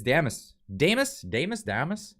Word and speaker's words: Damas: I keep mispronouncing it. It's Damas.